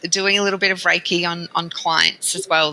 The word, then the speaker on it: Reiki: practitioner MH and a Ricky level two practitioner I know Ricky I've heard of it before and I'm probably saying it wrong raiki or Ricky is which one raiki raik raik raiky practitioner